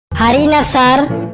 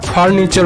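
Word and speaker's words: furniture: হারিনা স্যার। একদম ঠিক, তবে উচ্চারণটা হারিনাসার হবে না, ফার্নিচার হবে।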